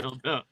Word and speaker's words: Phildo: Phildo Machine Service. Yeah. Yeah. So Phil and then do, but it's like Phil do. Yeah. There you it's go. Pronounced dough. It's profound dough.